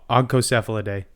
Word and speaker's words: Ogcocephalidae: It's not two soft C's. It's a hard C and a soft C.